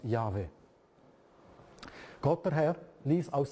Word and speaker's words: Jahwe: Gott der Herr steht, steht da im Hebräischen YHWH, meistens ausgesprochen als Jahwe.